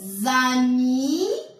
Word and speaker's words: amis: Les amis ramassent les cerises. Les amis ramassent les cerises. D'accord? Mi. S ne se prononce pas.